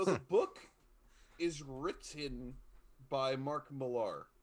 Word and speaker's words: Millar: So the book is written by Mark Millar, or Mark Miller is the Yeah. actual pronunciation, but he has an A at the end.